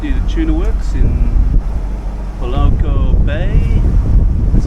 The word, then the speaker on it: Malekula: It's just near the tuna works in Malekula Bay. That's how you pronounce it.